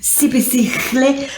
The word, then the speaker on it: Siphesihle: Siphesihle.